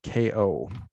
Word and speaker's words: Kao: Wes and it's k-a-o it's pronounced KO excellent thanks again Wes